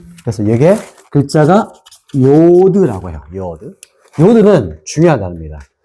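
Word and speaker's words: יוד: 그다음에 테트 테트 그다음에 요드 자 한번 읽어 볼게요.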